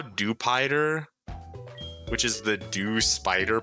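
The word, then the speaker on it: Dewpider: much cuz like bro we call it Dupider cuz it's like a dup spider. So like surely it's a dupider not dupeter.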